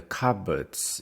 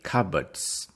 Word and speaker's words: cupboard: what color are the cupboards in your kitchen we say cupboards cupboard the stress is on the first one cupboard cupboard is a